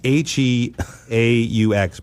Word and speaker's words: Heaux: She said, Dad, it's Heaux, but it's pronounced ho, just so you know.